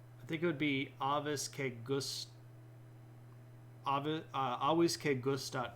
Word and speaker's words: avis: So bird is avis, but if you pronounce it Latin, it's supposed to be avis because you don't pronounce the V like that. You say it like a W.